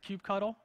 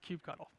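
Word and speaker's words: kubectl: all the way on the left is called Cube cuddle don't let anybody tell you it's pronounced differently it's called Cube cuddle so that's the architecture which we went over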